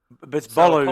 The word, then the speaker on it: Bolu: Fagbrin Fagbrin Balu is correct. Balu Fagbrin who played for who played for the